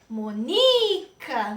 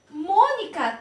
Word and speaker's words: Mônica: Mônica. Qual é a sílaba mais forte desta palavra, pessoal? É Mônica. Mônica. Se eu disser Monica, não é. Está incorreta.